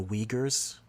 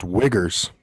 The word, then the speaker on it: Uyghurs: worse than they treat the uyghurs it's pronounced wiggers I don't think it is